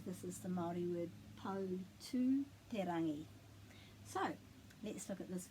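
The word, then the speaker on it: Poutūterangi: If there's an I or a U after the T, you pronounce it T. But if there isn't an I or a U, it's like te.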